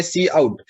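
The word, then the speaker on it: cout: सी आउट, pronunciation है सी आउट।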